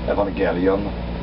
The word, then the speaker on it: Evangelion: is a Greek world so maybe should we pronounce um Evangelion that's how they pronounce it in Japan for instance but I think like I would just uh americanize a little bit and evangelon sounds good to me all right I'll just